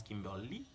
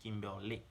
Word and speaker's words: Kimberly: In English you pronounce Kimberly, but in French, Kimberly.